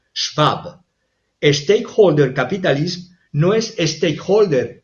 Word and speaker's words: Schwab: propio libro de klaus schwab o klaus schab si lo pronuncio a la inglesa Aunque su nombre es klaus schwab stakeholder capitalism no es